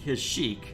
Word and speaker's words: Kashyyyk: Every other media I've heard pronounces it Kashyyyk. Why does this game pronounce it Kashyyyk?